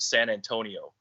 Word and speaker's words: San Antonio: Anthony in, I would say, English terms, but we've always kept the Mexican pronunciation or the word San Antonio.